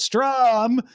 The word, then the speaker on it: Struum: I'm saying it that way because it's spelled Struum. But Strum will not have its own content.